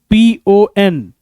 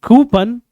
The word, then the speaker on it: coupon: That is the correct pronunciation. COUPON. इसको again हम mispronounce करते हैं coupon. But coupon is wrong pronunciation.